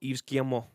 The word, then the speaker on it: Yves Guillemot: Tino says it pronounced Yves Guillemot.